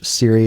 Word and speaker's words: Cirre: do yeah yeah so my name is Siri that's how you pronounce my last name I've heard all the